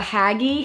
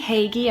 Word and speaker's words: Hagee: did it um haggy Hagee I'm sorry I've been pronouncing your last name wrong she did this as